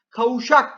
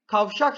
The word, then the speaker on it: kavşak: yine iyi sesi düşmüştür kavuşak kelimesi kavuşmak kelimesinden gelir kavuşmak kavuşmak sözcüğüne Affet'teki getirdiğimizde kavuşak değil kavşak şeklinde telaffuz ederiz Dolayısıyla kavşak kelimesinin de